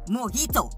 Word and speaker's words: mojito: well so here's this the drink is pronounced mojito the j is silent like first of all